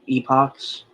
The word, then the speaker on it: epoch: So there are like 7 epochs, and that is how you say it, right, Dalton? Epochs. That is how you say it, yes.